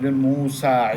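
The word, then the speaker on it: موسى: যদি না থাকে ওটা আ উচ্চারণ মুসা ঈসা লেখার সময় কিন্তু ইয়া লাগে কিন্তু ওটা মুসিনা ইনা কি মুসা ঈসা ওটাকে আলিফে মাকসুরা বলা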